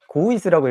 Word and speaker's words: 고우이스: 아 고우이스님 고우이스라고 읽어야 돼요. 고울리스님 뭐라고 한 거 아닙니다.